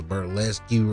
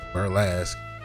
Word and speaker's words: burlesque: now truth be told I was thought pronounced was ber lesue or something like that but I had to look it up it's just two syllables Buras but right now we're